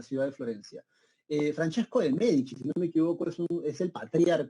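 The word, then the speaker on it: Medici: el Duche en italiano Cuando tú veas la letra c esa c se pronuncia como Che ent por eso se pronuncia los medichi bien gó entonces Fran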